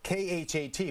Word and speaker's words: khat: Well, it's spelled K-H-A-T, but it's pronounced khat.